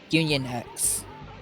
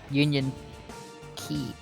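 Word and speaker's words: Union χ: hearts unchained or no union x that's what it is union key because my bad the x is actually supposed to be pronounced key oh the door was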